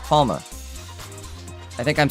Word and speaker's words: Palme: Limitless says Palme is German, so I'd assume the name is based on the German word for palm tree, and it would be pronounced Palma.